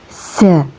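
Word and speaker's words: ز: Tempat keluarnya huruf za yaitu dari ujung lidah. Lebih tepatnya huruf za keluar dari ujung lidah yang menempel pada ujung dua gigi seri bawah.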